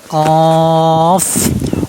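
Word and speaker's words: ق: এটাও হরফ উচ্চারণ স্থান কফ হরফ উচ্চারণ স্থান জিহ্বার গোড়া ও সে বরাবর, মানে তারপর উপরে তালুর সাথে লাগে উচ্চারণ করতে হবে। জিহ্বার গোড়া তালুর সাথে লাগবে।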